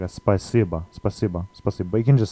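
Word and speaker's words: спасибо: written in Cyrillic just spicyba spicy but there's a little bit of a difference here um there's sort of like an e sound after the a so it's like a spacebar but you can just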